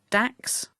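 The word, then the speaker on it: DACS: pilots may receive either a danger area crossing service pronounced dax or a danger area activity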